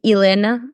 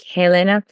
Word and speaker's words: Helena: to note is that we don't really pronounce the H in Portuguese. So, yeah, I think most English speakers will say my name more like Helena.